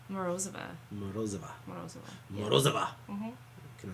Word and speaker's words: Morozova: Morozova.